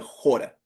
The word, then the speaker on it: chora: también hay un jor que se escribe chora, c h o r a, pero se pronuncia jora.